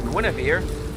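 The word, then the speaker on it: Guenhwyvar: After all, he's already got Guinevere. That's how I pronounce the Panther's name.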